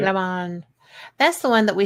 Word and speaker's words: Lomond: It was Loch Lomond, or Lomond, how do you say it? Lomond.